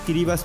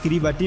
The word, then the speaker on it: Kiribati: সালে এই উপনিবেশ স্বাধীন ক্রিবাস প্রজাতন্ত্র হিসেবে আত্মপ্রকাশ করে ক্রিবাস নামের উৎস হচ্ছে ইংরেজি গিলবার্টস নামের স্থানীয় উচ্চারণ যদিও দেশের নামের বানান ক্রিবাতি গিলবার্ট ও ইংরেজি ভাষায় এর সঠিক উচ্চারণ ক্রিবাতি বা ক্রিবাটি নয়